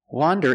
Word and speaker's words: wander: let's look at pronunciation wander is pronounced with the short o sound to sound a like you hear in hot and stop W wander it's an open Sound a a w wander and wonder is pronounced